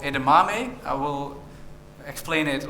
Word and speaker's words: Edamame: You pronounce it like Edamame. So if you get only one thing out of this talk, you now know how to pronounce Edamame.